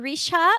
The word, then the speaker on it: Richa: And if you want to stay in touch with me, I'm on LinkedIn, Rita Richa. It looks like cha, but it's a sha, just like how it's spelled below.